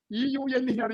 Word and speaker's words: Euler: Euler, E-U-L-E-R, Euler. It's Euler. The pronunciation is Euler.